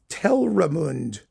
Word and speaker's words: Telramund: Telmarud, who's I don't even know how to pronounce him. I mean, it's like ridiculous. Telramund, that's him.